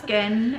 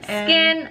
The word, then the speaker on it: SKYN: So it's I don't know how you pronounce it. It's SKYN. So skin. Okay. I think it's just skin. Skin from Iceland, and these are hydrocoal firming eye gels.